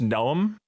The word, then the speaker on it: Neom: I'm sure you guys know about Neom, or I think it's pronounced Noam, yep.